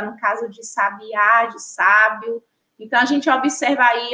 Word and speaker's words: sábio: E quando a gente fala sábio agora, ó, sábio, sábio, a gente já identifica também que a sílaba tônica é a sílaba sa.